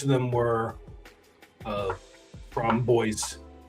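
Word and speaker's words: Bois 1920: I was about to say boys, that brand 1920, they pronounce that boys. Boys. Yeah. cuz it's it's the Italian brand. It's not pronounced French.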